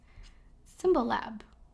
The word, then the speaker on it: Symbolab: But then I learned about this other neat website, Symbolab. Exactly how you pronounce it, Symbolab.